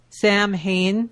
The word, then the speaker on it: Samhain: I know what it's pronounced. Samhain.